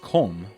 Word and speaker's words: Columba: Columba, commonly pronounced Colm, was one of the greatest patriarchs of the monastic order in Ireland and the apostle of the Picts.